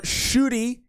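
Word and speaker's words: Ncuti: are you excited for shooty that's how you say his name shooty uh gatwa and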